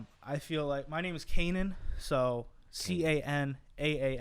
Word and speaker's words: Canaan: understand it might be a little hard to pronounce, Canaan, but when you tell people to spell it, it's like you told them like Peter Piper picked the pebble, and they're just like Canana, and it's like, whoa, it's like you never